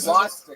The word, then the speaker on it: swastika: Swastika. There is no H in the beginning of that word.